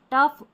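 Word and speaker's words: tough: अब देखिए GH कहीं कहीं पर जो है फ की ध्वनि देते हैं, जैसे कि लाफ, यहाँ पर है कॉफ, टफ, इनफ और रफ। तो यहाँ इन सारे स्पेलिंग में देखिए GH आ रहा है ना, याद कर ले इनको, इसको हमको फ पढ़ना है, ठीक है, फ पढ़ना है।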